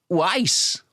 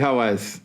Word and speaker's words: Wise: A pronúncia é Uais. Uais, é isso, Zé? Uais. Mas o Toledo falou certo. Não, eu falei Hawais, eu acho. Não. Hawaii. Lá no Hawaii. É Uais.